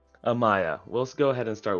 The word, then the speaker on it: Amaia: Amaia. Amaia.